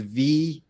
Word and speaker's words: Vuong: Yeah, the U is silent. So Vuong. Vuong.